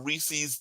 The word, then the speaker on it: Reese's: It is Reese's, isn't it? It's not Reese's. Reese's. Reese's rhymes with feces.